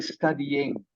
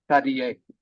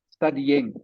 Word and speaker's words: studying: the verb is studying studying is the verb must have the ing on the end okay thank you Bing